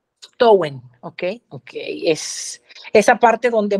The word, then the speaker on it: Samhain: Entonces estábamos hablando del origen de la palabra Halloween y nos quedamos en, ¿pero cómo se pronunciaba? Samhain. Samhain, ok, es esa parte donde muere ese vacío, ¿no?